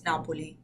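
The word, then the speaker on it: Napoli: me Naples Naples yeah you say Naples in English but like in Italian it's napoi oh napoi o that's that's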